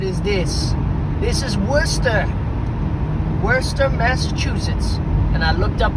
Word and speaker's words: Worcester: It said like Worester, but it's spelled like Warchester. Worchester sauce. But it's Worester.